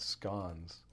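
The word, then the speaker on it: SCons: want to say scad scones it's always funny to say scones because like it's spelled as c-o-n-s I always want to put an e in there uh but uh no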